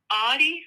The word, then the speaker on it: Adi: Your name's pronounced Adi, right? Yeah, Adi.